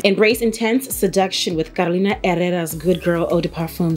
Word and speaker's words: Herrera: Carolina Herrera. I know the H is silent.